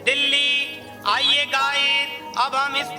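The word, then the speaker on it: دلی: आज का हमारा लफ्ज है दिल्ली।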